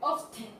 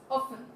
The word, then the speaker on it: often: And finally, for often, we are not gonna say often. We are only pronounce often.